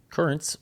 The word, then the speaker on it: Curranz: Currents, which is spelled Curranz, is a pre-workout supplement